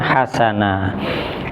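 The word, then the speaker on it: حَسَنًا: Nah, ini bukan berarti membacanya ketika berarti wa dan hasan, bukan, tapi membacanya wa dan hasana. Lo mana huruf terakhirnya mati? Nah, ini sebenarnya huruf mati, ini alifnya ini sebenarnya huruf mati. Nah, makanya di sini yang ini namanya mat iwat.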